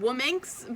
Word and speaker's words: Womxxxn: women's online magazine called, it's called Wominx, but it's spelled WOMXXXN. She picked the title, like